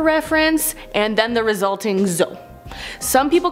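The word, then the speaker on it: dzo: On to number 4, a zoe. This is spelled D-Z-O or D-Z-O.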